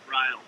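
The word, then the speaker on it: Rial: Ryle. What is it? Ryle. Ryle? Yep. How do you spell that? R-I-A-L. Yeah, so they don't want to rile you up.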